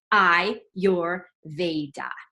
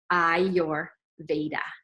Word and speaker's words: Ayurveda: how to say it practice with me now I your Veda I your Veda Ayurveda there you go remember